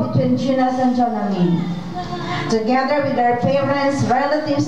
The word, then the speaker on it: Jonalyn: Ang pag-pronounce day, yung ngalan is Jonalyn. Jonalyn.